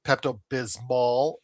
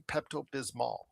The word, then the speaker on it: Pepto-Bismol: You know, for a while, for many years, Joe, I did know that uh Pepto-Bismol is how it's it's actually spelled and supposed to be pronounced.